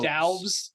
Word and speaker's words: Doubs: pronounce Romeo that. Doubs.